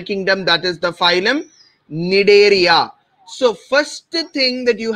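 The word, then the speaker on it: Cnidaria: as phylum need area c is silent we'll pronounce it as need area okay we would discuss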